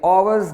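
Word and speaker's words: hours: आवर्स delay में हम एच को साइलेंट रख रहे हैं और ओ को प्रोनाउंस कर रहे हैं, आवर्स delay, N आवर्स delay, ना के हावर्स डिले। एच प्रोनाउंस नहीं किया जा रहा बल्कि साइलेंट है।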